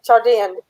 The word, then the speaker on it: Chaldean: Not Chad, Chaldean. How does spell that?